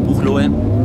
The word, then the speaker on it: Buchloe: Im Übrigen, es heißt wirklich Buchloe. Also das E hinten spricht man mit, nicht so wie in Norddeutschland mit Itzehoe und Bad Oldesloe.